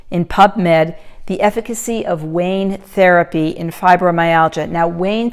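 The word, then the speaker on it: ワオン: And then last but not least, this is also from 2008 in PubMed, the efficacy of WAIN therapy in fibromyalgia. Now, WAIN therapies, that's spelled W-A-O-N, that's actually the Japanese term, and it means warm, healing heat.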